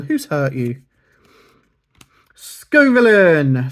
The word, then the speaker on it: Scovillain: Scovillain. So I say Scovillain. I've heard Scovillain. Scovillinian. Yeah, I go Scovillain here.